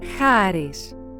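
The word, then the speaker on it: χάρις: This is how these two words are pronounced. Charis.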